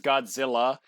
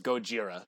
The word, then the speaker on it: Gojira: no i know it's an american translation as godzilla and japanese it's gojira there's no it's g uh g-o-j-i-r-a gojira huh interesting i didn't